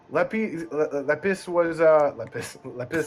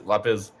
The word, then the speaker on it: Lapis: Lepis was I don't know how to pronounce it in English. Lepis? Yeah, it's lapis.